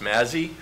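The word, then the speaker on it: Mazzi: misspelled a lot its ma Zi Zi it's pronounced Mazzy what's the story behind your name why are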